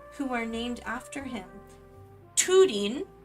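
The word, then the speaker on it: Túrin: It's Tudin. It's not Turan. It's Tudin.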